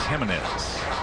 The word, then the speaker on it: Jimenez: And even though his name starts with a G, it is pronounced Jimenez.